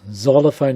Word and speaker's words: xylophone: enough it doesn't exist it's not even pronounced with an X xylophone is Zed Zerlina Zed even zebras